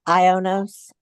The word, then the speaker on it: IONOS: own your domain uh the ionos or I guess that's how you pronounce it i o n oos okay yeah I haven't